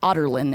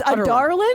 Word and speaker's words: Adarlan: Ottertland is how adarlin is said. Otterland. Ardolin. Ardellin. Yeah. Yeah. I think I was calling it Ardolin. Adarland. It's Adarland.